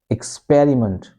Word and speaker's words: experiment: X okay X experiment again this E sound is giving awa sound okay experiment and t sound okay experiment experiment exp and this is stress mark it means that when you reach this s p e. So you raise your sound. Okay? You say it loudly and you say it slowly.